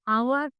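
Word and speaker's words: hour: है N orange, an elephant, an apple, an आवर।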